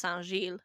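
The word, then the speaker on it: Saint-Gilles: I'm fairly sure that I can confidently say it's pronounced Sanjil.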